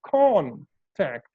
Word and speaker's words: contact: If you see, con, this syllable, contact. Clear? Now, how I will pronounce it as, contact, contact.